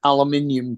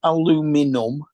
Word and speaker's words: aluminium: potensic t8's got an aluminium case Al aluminium aluminium aluminium yeah it's in the way it's spelled it's really simple to say it it's not spelled aluminum it's spelled aluminium Justin calls it aluminum